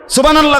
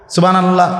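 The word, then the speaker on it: سبحان الله: ব্যাটা বলে কিছুই হয় না কিচ্ছু হইছে না সুবহানাল্লাহ কোন জিকির না আলহামদুলিল্লাহ কোন জিকির না হাতায়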